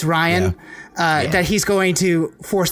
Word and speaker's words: Rian: Is it Ryan or Rian Johnson? Ryan is going Ryan to. Johnson. It's Ryan.